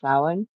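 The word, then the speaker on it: Samhain: on the stream about um the witch's holiday sin which when you see it it's going to be s a m h a i n it's a Celtic word that's pronounced sin and about Halloween and I'll have a guest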